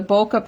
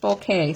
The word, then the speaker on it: bokeh: I asked for the bokeh paper because that's the way I had always heard that that was pronounced. And they said, no, it's pronounced bouquet.